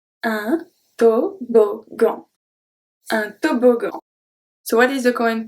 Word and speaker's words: toboggan: When we have two G in the middle of a word, sometimes it's going to stay as a hard G. Let's see the example and then you will see why.